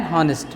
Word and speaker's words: honest: My friend is an honest man. We can't make use of a in front of honest because of the pronunciation. Is a vowel sound.